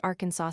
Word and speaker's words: Arkansas: Arkansas, as everyone knows, is pronounced slash Arkansas slash by the Arkansans, and the Nevadans give the name of their state a flat slash a slash.